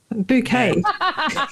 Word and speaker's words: Bucket: And it was Hyacinth Bucket's A Guide to Etiquette. Bouquet. Yeah, got a name wrong.